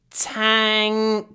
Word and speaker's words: tank: a strange sound but NK in it's the same mouth position tank tank so I pronounce n with my mouth open tank tank tank and it's the same